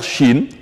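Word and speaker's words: شين: lire chaque chat alors la lettre Chine de son nom se prononce exactement comme la Chine un pays de l'Asie Chine Chine Chine de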